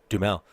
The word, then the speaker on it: Duhamel: Fandango can't quite pronounce his last name, and he's like, "It's Duhamel.